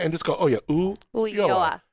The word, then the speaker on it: Ulloa: But if you just don't stress on it and just go, oh, yeah, Ulloa. The double L is pronounced as a Y, so Ulloa.